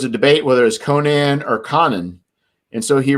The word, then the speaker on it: Conan: And then like 2 months later, they got a letter and told him it was Conan, was the way it's pronounced.